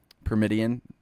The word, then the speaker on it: Pyramidian: Like if you played like the Pyramidian, is that how you say it? The Pyramidian. Yes, So like pyramid.